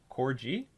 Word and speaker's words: Cordial: sorry it's been mentioned cordial is pronounced core g cordial it's okay uh i